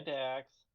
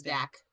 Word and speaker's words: Dak: Hi, Dax. But you know you keep saying his name wrong, right? What's his name? It's Dak. like singular.